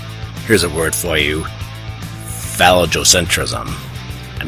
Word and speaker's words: phallogocentrism: Here's a word for you: phallogocentrism. I'm not going to spell it, but basically it's phallic with logo with centrism. And it's not phallocentrum. Phallo-logo-centrism. This word cracks me up.